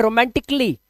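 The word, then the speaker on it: romantically: अगर आप बोलते हैं तो गलत है। आपको बोलना है रोमांटिकली। रोमांटिक ली। जैसे रोमांटिक बोला तुरंत बोल दो ली। बस रोमांटिकली कली नहीं आ का साउंड नहीं लाना है।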